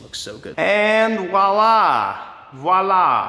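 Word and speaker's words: voilà: And voila, voila. Starts with a V, I always forget that, gotta say it right.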